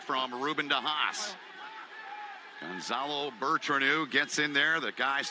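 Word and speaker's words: Bertranou: I said, Bertranu. He said, that's how you say it.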